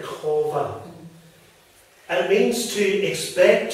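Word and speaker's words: qavah: language we spell Q-A-V-A-H, which I think is pronounced something like Kova.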